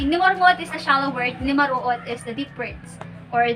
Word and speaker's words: nimaruot: Nimaruot. Okay? Nimaruot. So how do we pronounce it? We have the N sound. We have voiced alveolar nasal.